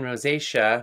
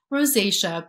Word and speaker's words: rosacea: Priscilla said regarding rosacea, I'm not sure if I'm pronouncing that right. Yep, rosacea.